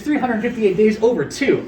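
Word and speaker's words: 358/2 Days: It is 358 days over 2. I know, I have no clue why it's spelled like that.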